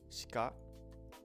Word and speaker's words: しか: So like shika, it's like kore shika nai. So it's like shika, like you're not really pronouncing the e at all in there.